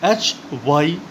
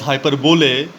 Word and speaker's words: hyperbole: The spelling of hyperbole is Hyperbole, but please don't pronounce this word as hyperbole, it is pronounced as hyperbole.